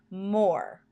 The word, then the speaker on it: more: look at the word more and stretch that word out M or the e at the end is silent the third header card